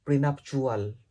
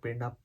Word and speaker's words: prenuptial: And prenuptial, it's not prenup, it's pronounced prenuptial agreement or prenuptial bond.